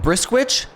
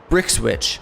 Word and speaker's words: Brickswitch: I always say it wrong. Brisswitch. Brickswitch.